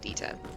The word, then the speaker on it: Dieter: I would call it Dieter. Because for me that kinda is a German name. And I would pronounce it Dieter.